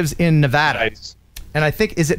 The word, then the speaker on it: Nevada: we got 777 superjet its Nevada long a ah as in Nevada okay good very good